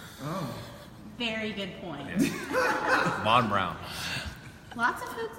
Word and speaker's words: Von Braun: It's not Von Braun, it's Von Brown. Oh. Very good point. Von Brown.